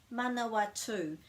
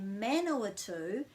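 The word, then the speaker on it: Manawatū: pronounced quite long too manawatu so the reason that people say manoa too is because they don't know about that break after the vowel and they're saying man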